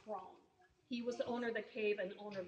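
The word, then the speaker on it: Croghan: Cone, K R O G H A N, but pronounced Cone.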